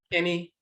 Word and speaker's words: ani: And Akan, that's pronounced any, A-N-I, any, which means the eye or eyes.